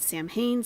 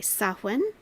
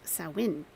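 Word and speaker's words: Samhain: back to the ancient Pagan Festival known as Sam Hayne celebrated by Celtic people over 2,000 years ago okay saen is the correct pronunciation okay saen saen okay and actually the the Shak say pronounced sawin sa okay so all right cool um by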